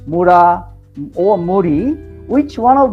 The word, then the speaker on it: Mura: Muda, Mura, Muri. You know, those are 3 words starting from mu, mu, mu.